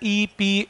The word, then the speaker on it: epsilon: alpha beta gamma delta, इस symbol का pronunciation है epsilon epsilon, और नॉट तो चलो